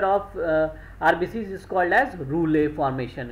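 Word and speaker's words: rouleaux: तो this stack like structure of आरबीसी is called as रूले formation. इसको क्या बोलते हैं, रूले ना, स्पेलिंग है रूलेक्स, ठीक है, रूलेक्स स्पेलिंग याद रखिएगा।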